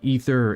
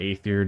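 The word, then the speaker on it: Aether: jump into fixing the The Ether or ather depending how you want to pronounce it burner and then we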